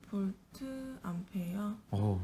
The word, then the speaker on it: VA: 볼트 암페어? 똑똑하네. 이거 전기 강사님들 중에도 볼트 암페어라고 읽는 게 아니라 바라고 읽으시는 분들이 있어. 그냥 VA라고 써있다고. 아니야. 볼트 암페어고.